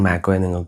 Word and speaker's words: Mako: വഴിയിൽ, നിങ്ങൾക്ക് ഓറിയന്റ് മാക്കോയെ "മാകോ" അല്ലെങ്കിൽ " മേക്കോ" എന്ന് ഉച്ചരിക്കാം. ശരിയായ ഉച്ചാരണം സംബന്ധിച്ച്, അത് നിങ്ങളുടെ ഇഷ്ടത്തിനനുസരിച്ച് തീരുമാനിക്കാം, പക്ഷേ ഞാൻ അത് "മാകോ" എന്നാണ് ഉച്ചരിക്കുന്നത് .